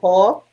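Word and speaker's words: Kau: Which pronunciation do you prefer, Ko? Ko. I'm Ko. K-A-U, Ko.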